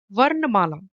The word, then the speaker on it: वर्णमाला: words W and Mala W you can pronounce as v a r ver and Ana ver and what it means it means the smallest or the tiniest sound like that of an alphabet in Hindi we call it dwani and Mala is m a l a you can pronounce MAA it's simple mala means Garland